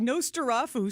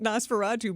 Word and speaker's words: Nosferatu: He said Nostarafu, so he mispronounced Nosferatu, but then he was